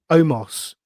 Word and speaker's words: Omos: How am I pronouncing this? His partner, is it Omos? Omos.